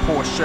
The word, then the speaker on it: Porsche: It's not Porsche, apparently. Oh, gee. It's not Porsche, apparently. It's Porsche. I think that's how you say it now, but feel free to correct me if I'm saying it wrong.